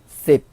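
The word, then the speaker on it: สิบ: 숫자 10은요. 한글에 10하고 발음이 비슷한데 성조는 sip, sip 하고 내리셔야 돼요.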